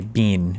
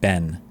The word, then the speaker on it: Ben: God, I hate it when these bombers say Bean instead of Ben. It's big Ben, not Big Bean.